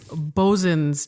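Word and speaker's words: boatswain's: And he pointed out to me that it's spelled boatswains. Right. And he said, never say that. Right. Never say that out loud. He said, It's bosun's chair.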